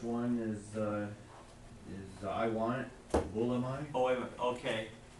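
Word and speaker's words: βούλομαι: Well, first one is I want it, Bulamai. Oh, wait a minute, okay. There you go. Say that again, because I think you were right on your. Bulamai. Yeah, yeah. Oh, you was, yeah, Bulamai.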